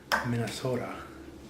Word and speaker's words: Minnesota: So this here is a video response for Yasin on how to say Minnesota. That's how you say it, Minnesota. Gotta have that O in there.